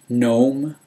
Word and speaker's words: gnome: 25 do Dome fo gnome with a silent G whole Joe Jo Mo